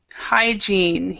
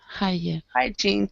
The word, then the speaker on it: hygiene: yeah hi hi gene so basically what you could how you could pronounce that would be like saying hi jean so hi to your friend jean hi gene that's basically what it is hygiene it's it's spelled kind of strange but that's how we pronounce it okay um jose could